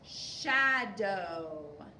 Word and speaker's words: shadow: and that would be Shadow and it's oh like bow okay so this is a long o and we're gonna Mark out the W because we do not hear the w shadow and we also